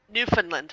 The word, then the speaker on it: Newfoundland: Listen, you said it wrong. Newfoundland, not Newfoundland. Oh, God. Oh, I'm always doing that. You said it's it like a land. Yeah, it's a land full of new fun.